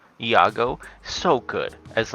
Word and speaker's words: Iago: Ego. Iago.